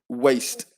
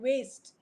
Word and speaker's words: waste: It's just that pronunciation, the first phoneme, the w sound, which can sometimes Best out of waste. Best. w, waste. Oh, waste.